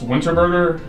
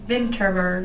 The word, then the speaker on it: Vinterberg: what do you say his name was Thomas winter burger or something Thomas Vinterberg okay my bad Thomas things ever yes tell